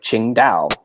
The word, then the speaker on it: Qingdao: from some simple things if you see a Q in a Chinese name that's the CH then let's check so that helps a little bit like she was from the city of Qingdao spelled with a Q